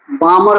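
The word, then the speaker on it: Balmer: अब देखो बामर सीरीज लिखो अब देखो दूसरा है बामर series L silent AC बामर series सेम language लिखा लिखो अपने से जब इलेक्ट्रॉन हायर ऑर्बिट से हायर ऑर्बिट से यहां सेकंड ऑर्बिट होगा।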